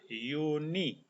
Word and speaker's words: Juni: Huruf J ini dalam bahasa Jerman itu bernama J dan dibaca seperti huruf Y. Jadi cara bacanya adalah Juni.